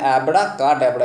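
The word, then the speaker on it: abracadabra: এবার এখানে দেখো অ্যাব্রা কা, এটা ডেবরা আছে, বন্ধুরা উচ্চারণ কিন্তু ডেবরা না ড্যাবরা, তাহলে অ্যাব্রা কা ড্যাবরা।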